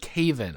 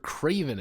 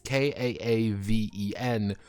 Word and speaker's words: Caven: Spirits, and Lord Lord Caven. I thought it was Lord Craven at first, but it's Lord Caven. It's Kaaven. So I'm going to overpronounce the A.